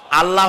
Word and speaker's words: আল্লাহ: নাম আল্লাহ বলেন তো আল্লাহ নয় কিন্তু আল্লাহ হচ্ছে অশুদ্ধ শুদ্ধ হচ্ছে আল্লাহ বলার সময় মুখটা গোল হয়ে যাবে বলেন তো সবাই উচ্চারণ